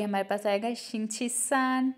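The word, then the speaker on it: 星期三: तो वेडनेसडे हमारे पास third day है वीक का तो ये हमारे पास आएगा शिछिसान। ये तीनों ही हमारे पास फर्स्ट टोन के साथ हैं। शिछिसान शिछिसान मींस वेडनेसडे।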